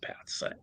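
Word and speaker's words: Päts: Konstantin Pats, I believe it's pronounced Pats, first president of Estonia.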